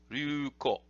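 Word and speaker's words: 竜虎: Ryuko. The Ryu, this dragon here is pronounced with a Chinese reading, and then Ko, you might remember from an earlier video, is the character for tiger.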